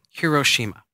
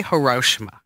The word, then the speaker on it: Hiroshima: order to get to Hiroshima okay we say hoshima yes it's not the proper it's Hiroshima okay because I learn